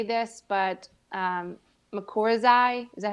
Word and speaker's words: mycorrhizae: never know how to say this but um makura's is that how you say it mycorrhizae mycorrhizae the fungi i'm an i'm yes i'm